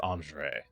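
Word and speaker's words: Andrzej: His name is Andre. That would be the one who gave the information. Oh yeah. And it's spelled like the Polish way. N Oh, that's not N R Z E J.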